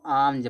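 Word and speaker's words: alms: तो यहां देखो इसको आलम में से नहीं पढ़े। इसको आमज पढ़ते हैं। इसमें एल साइलेंट होता है।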